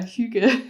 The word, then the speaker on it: hygge: If I'm pronouncing that right. Yeah, hygge.